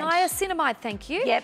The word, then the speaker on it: niacinamide: and B complex caffeine oh how do I pronounce that just denies niacomide niacinamide niacinamide thank you yep it's vitamin B superoxide diet